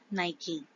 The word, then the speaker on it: Nike: So the correct pronunciation of Nike is not Nike but Nike.